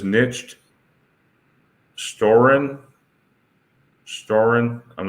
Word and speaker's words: nicht: It says nicht storen. Storen. I'm not sure what that means. It means nicht is not. Nicht. That's how you say it.